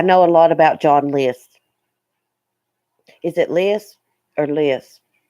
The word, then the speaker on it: List: John list John list I thought it was Lisp or something but it's list yeah I've watched several